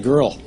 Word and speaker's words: girl: Except that when I popped out, they decided at the last minute that they really wanted a girl.